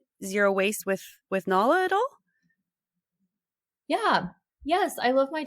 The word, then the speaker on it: Nala: Nala. Nala, Nala. She's so Nala. pretty. Thank you. Yeah, it's like the Lion King, Nala.